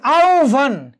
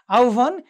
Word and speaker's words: আহ্বান: খেয়াল করে দেখো তোমরা যে আহ্বান, কি হয়েছে আহ্বান, এখানে ও আগে উচ্চারিত হয়েছে এবং মহাপ্রাণ যেটি বয়ের যে মহাপ্রাণ, এই বয়ের যে মহাপ্রাণ